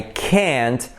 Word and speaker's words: can't: And it's curioso, it's funny, because the difference between can and can't, it's just not really the pronunciation of the T, but the stress. So when it's the negative, you most likely, you go to stress can.